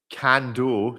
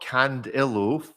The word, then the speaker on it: Cando: And on that note, let's go to David Cando, not Candillo. For years, I've been inserting an I in there for some reason.